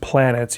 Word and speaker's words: Planetes: by Makoto yukimura called I believe it's pronounced just planets even though it looks like planetes this is a graphic novel series that started in 99 and concluded in 2004.